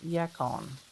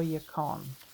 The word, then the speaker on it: yacon: I'm going to show you this yacon, or yacon, depending on how you say it.